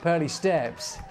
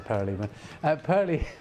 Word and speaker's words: Pearly Steps: Pearly Steps, that was Steve who put me off. He said that earlier on, Perleyman. Did I? Pearly Steps, you did. You mispronounced it earlier on.